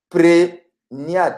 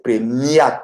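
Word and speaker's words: premiat: Prégnat, c'est une erreur. C'est pas prégnat, c'est prémiat. C'est avec M.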